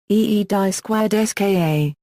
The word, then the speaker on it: Gdańsk: In Polish, the modern name of the city is pronounced Gdańsk.